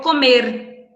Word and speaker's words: comer: Después tenemos aquí otro verbo que es el verbo comer, que só vai mudar um pouquinho na pronúncia, né? Comer, a gente pronuncia o R um pouco mais acentuado, e que em espanhol